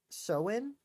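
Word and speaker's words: Samhain: um but I think my favorite thing that I learned was that Soin, which is how you say it, was an interesting place.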